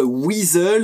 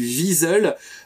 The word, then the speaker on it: Weasel: de cette petite M29 wizzle alors oui au début de la vidéo j'ai eu un réflexe de prononciation je les prononcé à l'allemande j'ai dit visole donc comme ça ça